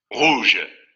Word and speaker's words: rouge: Vamos a escucharlo en Word Reference. Rouge. Vean cómo aquí tampoco produce la vibración.